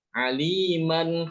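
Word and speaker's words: عَلِيمًا: Tapi kalau berhenti pada kalimat ini, ya, bacanya gimana? Apakah boleh membaca aliman atau alima? Mana yang benar? Alima atau aliman? Alima. Ya, alima bukan aliman, ya.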